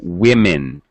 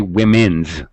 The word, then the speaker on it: women: speakers mess up um one woman two women we never say women very very common second language speaker mistake but very much wrong two women goose and